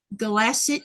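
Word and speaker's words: Kalaallit: Galasset new not the new not I see. But the do you pronounce your K's like a G? The K is a G and the two L's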